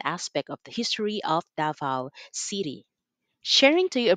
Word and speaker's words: Davao: Davao, or pronounced as Davao, also refers to a trading settlement where they bartered their forest goods in exchange for salt or other commodities.